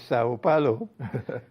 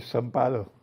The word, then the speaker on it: São Paulo: It's interesting that you pronounce it as Sao Paulo, because they don't do that in Brazil. They call it São Paulo.